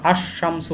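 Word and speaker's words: الشمس: হরফে কমারিয়া, আর এই 13টিকে বলা হয় হরফে শামসিয়া, কারণ আশ শামসু হয়, আশ শামসু, আল কমার হলে আল কমারু, আল কমার, তখন লাম উচ্চারণ হয়, আর শামসুতে লাম উচ্চারণ হয় না, আশ শামসু।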